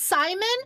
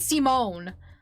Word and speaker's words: Simon: the game calls it Simone. I thought it was Simon. It is Simon. Like the way the name's pronounced and spelled is Simon, but the voice actors calls him Simone.